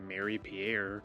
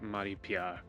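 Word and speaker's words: Marie-Pierre: So, for instance, instead of saying Mary Pierre, I would say Mari Pia.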